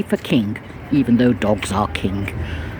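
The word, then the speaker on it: cŵn: key key is dog kin is dogs king without the G for King even though dogs are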